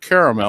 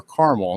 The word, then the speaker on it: caramel: and stir it you'll make caramel or caramel depending on how you say it glucose is blood